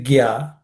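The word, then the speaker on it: ज्ञान: Uh, just watch how we pronounce it, because the first word is jnana. It starts with a J.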